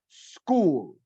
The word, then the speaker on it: school: with the letter S, we should not use, under any circumstance, the word E, okay? So here I'm giving you an example. We have school. We just need to focus on the S. School. School.